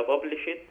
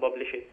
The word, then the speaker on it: published: sold ولا was sold ولا published ولا was published. نكتب واحدة واحدة كده. sold be published. بص يا أحمد احنا ما بنقولش published احنا بنقول published دي ديت انطقها تي.